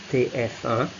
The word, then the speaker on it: TF1: And finally, in this group here, the last one, you do have France's most popular TV channel, TF1, so pronounced in French TF1, a generic channel, and that's the most watched channel in France, TF1.